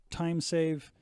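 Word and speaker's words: TimSav: it is the erc it's spelled tim sav but it's the time save cnc foam board cutter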